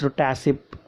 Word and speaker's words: TACCP: TACCP means pronounced TASIP.